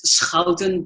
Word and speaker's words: Schouten: You know, the Dutch pronounce it as Schouten, but I know the SCH sound is hard, so you came near perfect.